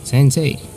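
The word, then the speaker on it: 先生: Well, minasan, actually, if you have to pronounce the sei in sensei or gakusei, it's actually, you have to mix the pronunciation, the one in between sei, the one in sei, and se. Se. So how will you mix it? Well, quite difficult. Se. It's not actually sensei, but sensei. Sensei.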